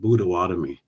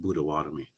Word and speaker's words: Potawatomi: people, we pronounce it Budawatomi. But when you see non-native people write it down, they all spell it with a P and a T in there, Potawatomi, but it's pronounced Budawatomi.